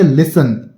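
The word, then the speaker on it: listen: इसे हम क्या पढ़ेंगे इसे हम पढ़ेंगे लिसन टी को हम साइलेंट रखते हैं क्या पढ़ेंगे मैं लिख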